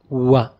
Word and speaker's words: و: Our next letter is wa. Wa. It's like how we pronounce W in words in English, like wall.